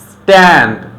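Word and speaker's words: stand: টি এর আগে যদি একটা এস থাকে তখন আমরা এটাকে ট উচ্চারণ করব। তো আমাদের বলতে হবে still, স্ট্যান্ড, স্ট্যাম্প, স্ট্যামিনা, strategy.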